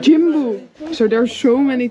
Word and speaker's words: Jimbu: Jimbu. Jimbu.